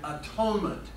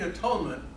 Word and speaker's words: atonement: Propitiation and atonement.